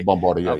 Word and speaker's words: Bombardier: Is that how you pronounce that? Okay, Bombardier, yeah.